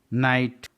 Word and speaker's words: night: नाइट, NIGHT. नाइट. GH के पहले आई है इसलिए GH साइलेंट है.